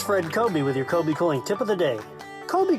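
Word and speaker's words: Kobie Cooling: It's Fred Kobe with your Kobe Cooling tip of the day. Kobe Cooling has been around a very long time. It's spelled kind of funny too. K-O-B-I-E K-O-O-L-I-N-G.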